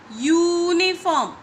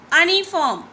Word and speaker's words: uniform: Okay, it gives you the sound of Y, uniform. It doesn't give you uniform.